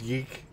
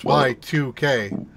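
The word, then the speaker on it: YIIK: Right, so I just looked at the Steam page for what you said is Yeek. Yeah. They actually say how it's pronounced. It's pronounced Y2K.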